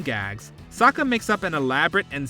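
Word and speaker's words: Sokka: jokes in Saka dialogue my name is Saka rhymes with AA shortly after Saka comes across an apprehensive little girl in the forest he tries to make her feel comfortable with a few jokes the gag about his name is a call back to a haiku competition that his animated counterpart entered that's right I'm Saka it's pronounced with an AA young ladies I rocked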